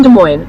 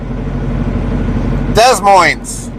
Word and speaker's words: Des Moines: Lynn says S is silent, LOL.